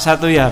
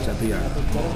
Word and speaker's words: Satoejar: Pak Satuyar. Iya, Pak Satuyar. Satuyar. Iya, ejaan lama, Pak. Iya, J dibaca Y.